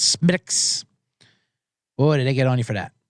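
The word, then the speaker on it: Smithwick's: it's go way B it's not SMI smithx it's Smiths oh did they get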